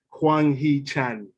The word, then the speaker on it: Hwang Hee-chan: Just to say the Asian player's name is Hwang Hee-chan. By the way, there you are. Just in case you were struggling to pronounce it there. What I was going to say Hee-chan anyway. Well, I said Wang. That's what I said.